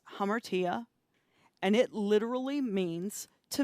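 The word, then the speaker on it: ἁμαρτία: you have the greek and it means it's pronounced hammertia and it literally means to miss the mark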